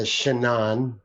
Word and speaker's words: Shanann: This is after, by the way, that the Shanann, what is it? Shanann. Jesus. I always just want to say Shannon.